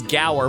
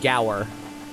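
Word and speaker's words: Gaur: really played because it's Gower Plains oh is not PLS I thought it was G it's spelled g a u r i pronounce it goer you tell me that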